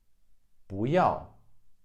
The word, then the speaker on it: 不要: 不要 I don't want it. 要 is a fourth tone, so 不 becomes a second tone.